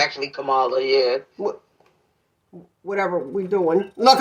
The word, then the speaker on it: Kamala: It's actually Kamala, yeah. Whatever we doing. Look, I'm like, whatever we doing, however you pronounce it, no disrespect.